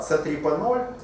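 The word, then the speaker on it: c3p0: реальный которому сообщаю Да C3 p0 или c3p c3p это робот переводчик а у меня но так но там но а пишется ноль а произносится О да Робот О этот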